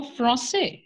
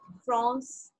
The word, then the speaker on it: France: Ma'am, we pronounce it as La Frosse, La Frosse. La Or France. La we France. have to pronounce R. Where? We have to pronounce R. France.